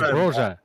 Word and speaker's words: Broja: His name is Broja.